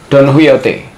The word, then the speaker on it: Don Quixote: Huy bacanya guys. Don Huyote.